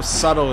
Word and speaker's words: subtle: sobis gainsboro so you know how subtle is spelled right got that silent B so if you